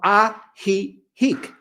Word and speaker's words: Ajijic: village, which is called Ajijic. Ah, he, So 2 J's, they're both silent. They're pronounced in Spanish as ha, Ajijic.